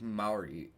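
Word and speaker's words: Mairi: I've been pronouncing it Mary. I've been saying my and see I hear ma it's like Mari is what the audio book says is Liam Mari Mari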